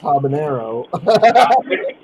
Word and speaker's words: habanero: But it's pronounced habanero.